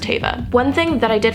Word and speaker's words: Teva: It's pronounced Tay-va.